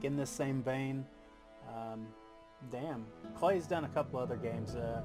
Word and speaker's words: Klei: team at clay entertainment clay it rhymes with play clay has made several